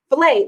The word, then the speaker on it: filet: Filet like the fish.